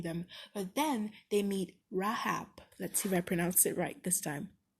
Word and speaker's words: Rahab: Okay, I've gotten a pronunciation. Rahab, not Rahab.